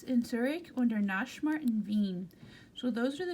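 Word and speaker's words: Wien: we're going to talk about the one in bean bean right here is actually an English pronounced Vienna it's a capital Austria there Nash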